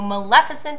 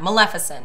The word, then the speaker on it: Maleficent: And we're here to review the new Maleficent trailer for you. It looks pretty sweet, so... So we got the pronunciation down? Yeah, Maleficent.